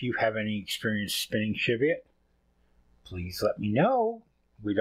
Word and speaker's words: Cheviot: I looked up the pronunciation. Cheviot.